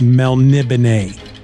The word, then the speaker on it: Melniboné: It looks like Melniboné, but it's pronounced Melniboné.